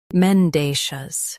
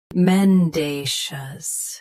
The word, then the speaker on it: mendacious: Today we will learn how to pronounce the word shown on the screen, mendacious. Both US and UK have the same pronunciation of this word. Stress day. Keep shus soft, not shus. Mendacious.